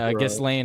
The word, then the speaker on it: Ghislaine: I know it's a little confusing for me too, but Ghislaine. I just, I've been told by people who know best that that's how it's pronounced.